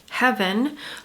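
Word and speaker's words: Hevyn: Okay, the next one is Heaven, but it's spelled H-E-V-Y-N.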